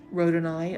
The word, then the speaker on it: rhodonite: And so then we go with the rhodonite. I always want to say. That's my southern coming out. We always want to add another syllable in there, right?